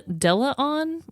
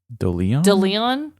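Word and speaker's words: Skyler Deleon: two is also correct Skyler Delan Del Delon I think is how you spell it's d e l e o n Delon Delon Skyler Delon he was a former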